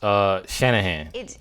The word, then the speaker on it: Shanahan: So her name is pronounced Shanahan.